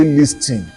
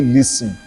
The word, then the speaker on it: listen: So don't say listen say listen let that t be silent.